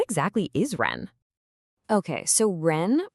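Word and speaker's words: 仁: Okay, so ren pronounced just like the word run is a huge deal in confusionism.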